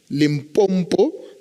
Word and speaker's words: Limpopo: country, from Eastern Cape or Western Cape to Limpopo. I'm from there, but I'm told I don't pronounce the name properly.